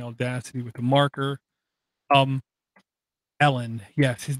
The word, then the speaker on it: Elon: answer that okay nano because South Africans pronounce it Ellen because it's Ellen okay that's what it is you can call them Elan all you want but that's kind of